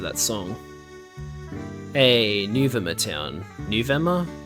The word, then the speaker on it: Nuvema: It's spelled N-U-V-E-M-A. As a kid, I always pronounced it Nuvema, but maybe it's Nuvema.